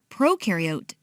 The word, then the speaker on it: prokaryote: is a big deal prokaryote the pro rhymes with no and they have no